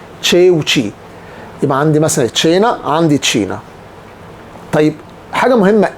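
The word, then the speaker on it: Cina: طب تشي واي تشي، زي مثلا تشينا. طيب الاي عندنا مثلا تشينا. الفرق بينهم هما الاثنين ما فضلش الاي والاي، هنا فتحت التشي وهنا كسرت التشي، يبقى التشي والتشي، تشي وتشي. يبقى عندي مثلا تشينا، عندي تشينا.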